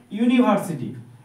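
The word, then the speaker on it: university: বসাবো না কি বসাব এ বসাব এখানে দেখ উচ্চারণটা চেক করো ইউনিভার্সিটি প্রথম কি দিয়ে শুরু হচ্ছে ইউ ইউটা ভয়েল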